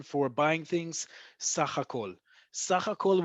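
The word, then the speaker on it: סהכ: Sakh hakol will always, almost always, I think 99% of the time be abbreviated as samekh heh gershayim kaf and it stands for sakh hakol.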